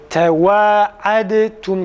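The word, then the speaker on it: تواعدتم: Şimdi tevaadtum kelimesinde dalı ta harfine çevirerek okuyoruz. Tevaadtum kelimesinde dalı ta'ya çevirilir.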